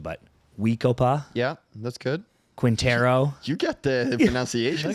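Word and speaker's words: We-Ko-Pa: I might be messing up the first name pronunciation, but Weekopa, Yeah, that's good.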